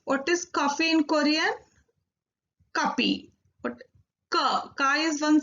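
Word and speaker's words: 커피: There is no fa in Korean language. That's why it is kapi.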